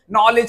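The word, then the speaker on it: knowledge: नॉलेज का। आप कॉलेज क्यों नहीं पढ़ते हैं? नॉलेज क्यों पढ़ते हैं?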